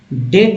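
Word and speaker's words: debt: लगता है दोस्तों डेट का सही सही उच्चारण जो है मैं आपको बताऊं की डेट होता है डेट इसमें बी पर साइलेंट रखा गया डेट डेट ठीक है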